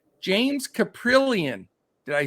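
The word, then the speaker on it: Kaprielian: that I can never say his name, James Caprillion. Did I say it? Got it? Yeah, you nailed it. All right, yeah. Caprillion, 5.8K for the A's.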